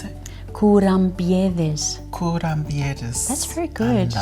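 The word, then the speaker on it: κουραμπιέδες: And today on the Bent Spoon, I will be making kourambiedes. It's like an almond shortbread. Yeah, how do you pronounce it? Kourambiedes.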